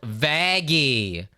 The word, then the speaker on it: Vaggie: that's just a nitpick of mine vaggy it's pronounced vaggy what Adam having standards is it too late